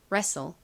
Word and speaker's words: wrestle: 이렇게 WR로 단어가 시작하는 경우 가장 앞에 W는 묵음으로 소리가 나지 않는다는 점 설명드렸죠? 잘 기억해 두세요. 자, 그리고 뒤에에 소리 나는이가 오고요. 다음 소리 나는 st가 옵니다. 발음 같이 해 볼게요. wrestle wrestle 좋습니다.